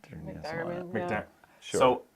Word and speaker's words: McDiarmid: McDiarmid, yeah.